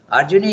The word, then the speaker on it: Arjuni: Okay, Arjuni is the son of Arjuna, so you have to pronounce it Arjuni. It becomes the, it takes a vriddhi.